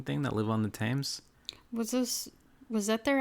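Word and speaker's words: Thames: mean the tames river it's pronounced tames right I think so yeah even though it's the the themes yeah it looks like FES but I think it's just tames or TS T whatever what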